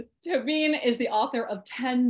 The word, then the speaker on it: Tóibín: I'm not Irish, so I'm not going to say it with two syllables, or at least as I try to, it probably won't sound like two syllables. Tóibín is the author of